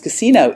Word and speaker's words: casino: And you have to say that with the accent on the correct syllable, because if you say casino, it means brothel.